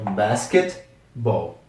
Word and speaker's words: basketball: t significa cesta então Basket Ball Basketball novamente são meio que duas palavras juntas esse T aqui do do meio é bem mudo não é Basketball então é Basketball próxima palavra é voleibol